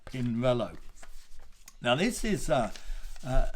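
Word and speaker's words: Pinarello: as you know because that central a in an italian word is not pronounced it's pinello now this is uh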